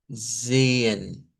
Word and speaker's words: sehen: Y luego después de vida tenemos sehen.